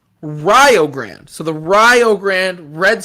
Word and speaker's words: Rio Grande: up i i got a note on the pronunciation it's rio grande so the rio grande red storm from ohio